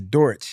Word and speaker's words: Dortch: Yeah, when Greg Dortch gets 75% or more of the snaps on